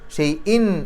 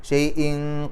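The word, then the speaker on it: شيء: വരുന്ന അക്ഷരം കാഫ് ആണ് അപ്പൊ തൻവീനിന് ശേഷം കാഫ് വന്നു കഴിഞ്ഞാൽ ആ തൻവീനിനെ ഇഹ്ഫാ ചെയ്യണം മറച്ചുവെച്ചുകൊണ്ട് മണിക്കണം അല്ലെങ്കിൽ അവ്യക്തമാക്കി മണിക്കണം വെളിവാക്കാൻ പാടില്ല ശൈൻ എന്ന് പറയില്ല ഷൈൻ ഷെയ്ൻ കദീർ കദീർ എന്നുള്ളതിന്റെ അവസാനത്തെ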